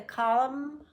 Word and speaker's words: column: be silent see the column of trees in autumn he sang A Hymn when you have MN at the end of the word the N is silent say it with me